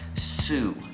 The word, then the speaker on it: Sew: Sue. It's spelt like sew, like a sewing machine, S-E-W, but it's said like Sue, like Dr. Seuss, so you would think it's S-E-U, or S-E-U-S-S, or S-E-U-S-S-A-N, S-E-W, but it's not.